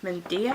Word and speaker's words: Medea: This is the Medea hat, I think is how you pronounce it.